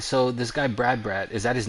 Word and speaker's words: Brad: All right, so this guy Brad, is that his name? B Rad, B Brad. Yeah, B Rad, Brad? B Rad, Brad. Oh, Brad. So his name is Brad. It's spelled BHE as in B, RAD as in Rad, Brad, BRAD.